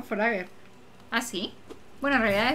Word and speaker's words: Forager: Forager, se pronuncia Forager, no Forager.